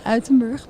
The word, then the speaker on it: Uitenbroek: I think I mispronounced them, by Uitenbroek and Arie Versluis. Please correct me. You're very close. All right. It's the Versluis and the Uitenburg, but it's all right.